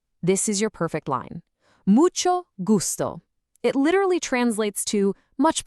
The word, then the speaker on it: mucho gusto: It's mucho gusto. That she sound is just like in the word chocolate or cheese. And the g is a hard g, like in great.